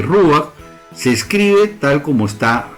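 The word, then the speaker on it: רוח: Entonces, la palabra que se traduce como espíritu en nuestras Biblias nace de la palabra hebrea que se dice ruach. La vemos aquí en este círculo de aquí, se lee ruach, se escribe tal como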